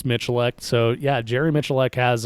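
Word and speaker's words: Miculek: his last name yeah most people mispronounce it it's michelech so yeah jerry mitchelleck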